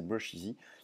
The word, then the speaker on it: Brusheezy: Donc ça s'écrit, ça finit pareil, E-E-Z-Y, mais c'est Brusheezy.